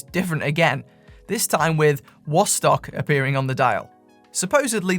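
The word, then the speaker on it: Wostok: then East Germany, where the letter W is pronounced a bit like a V.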